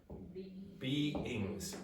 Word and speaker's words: beings: You need two syllables. Beings.